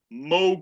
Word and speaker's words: Moog: And that's not a bad thing, because this really was the era of Moog synthesizer. Notice I said Moog, not Moog, because I know how to pronounce things correctly, ladies and gentlemen.